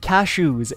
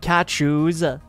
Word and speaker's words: cashews: It's not cat shoes. I'm not saying cat shoes. I'm saying cashews. Cashews. Cashews. Not cat shoes.